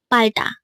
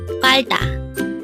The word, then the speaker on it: 팔다: going to learn about palda. Let's start. Learn Korean one word at a time only here at Dae-Hangul. Word number 325. Palda. Again, it's palda. This is pronounced as a two-syllable word.